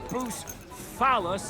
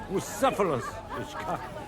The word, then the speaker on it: Bucephalus: What kind of name is Bruce Phallus, anyway? It's pronounced Bucephalus.